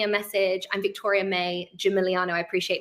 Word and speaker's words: Gimigliano: message I'm Victoria May Jim miliano I appreciate my name is quite long and um difficult to spell with a silent G um but please do